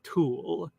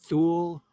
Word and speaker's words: Thule: near a mysterious land he called Thule, or maybe pronounced Thule, or Thule, or Tile. There are many possible pronunciations. We can't even pronounce it.